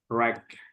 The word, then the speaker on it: wreck: Ranch sama wreck. Ranch sama wreck. Tapi Friends, yang ya, tapi yang tidak perlu disebutkan yang silent konsonannya itu yang mana?